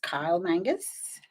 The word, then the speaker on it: Kyle Mangus: I do have a special guest, Kyle Mangus. I'm hoping I'm pronouncing that right.